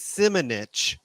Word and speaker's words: Simonich: on my last name, which is Simonich, which kind of sounds like a kind of a curse word. Some bitch.